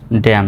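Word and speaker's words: damn: এস ও এল ই এম N Solomon হওয়ার কথা কিন্তু না সঠিক উত্তরটা হবে solemn D এম এন ড্যাম সি ও এন কন ডি ই এম এন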